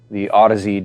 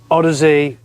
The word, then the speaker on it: Audeze: So AUD for audio, Yeah. and then EZE became the way to finish the Audeze journey.